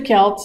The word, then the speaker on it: Celt: take it away Vanna so who were the Celts I kind of went over all of that